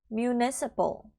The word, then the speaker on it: municipal: 뒷부분에서 PAL 같은 경우는 pal 하시면 틀린 발음이에요. municipal 하면은 틀렸고요. municipal. PLE 정도의 발음이다 라고 생각하시고 발음해 주시면 될 것 같습니다.